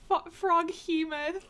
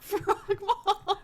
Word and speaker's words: froghemoth: Chat just said it's pronounced froghemoth, not frogmoth.